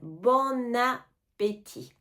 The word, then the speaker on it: bon appétit: bon appétit bon appétit on fait un peu la liaison on entend le N bon appétit bon appétit maintenant on